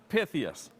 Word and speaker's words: Pythias: joined by ed kale from the knights of pythius am i pronouncing it right yes okay so knights of pythius they began their philanthropy back in 1864.